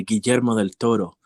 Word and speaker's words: Guillermo del Toro: name because you know there's this thing where like if it's a Hispanic name people even in English pronounce it in like like it would be in Spanish you know so they would say Guillermo del Toro yeah even though they're speaking in English but I just think